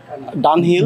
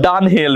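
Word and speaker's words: Dunhill: ডি ইউ এন এ এইচ I double L ডান হিল ডান হিল very nice তারপরে এইচ ই আর এম ই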